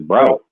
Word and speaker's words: Braut: It's Braut. Braut. Is you sure it's Braut?